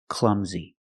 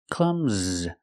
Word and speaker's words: clumsy: And he is clumsy. Pronunciation, the U is short. It makes the sound like cup and up, clum, z. The S makes a Z sound like zebra, clumsy.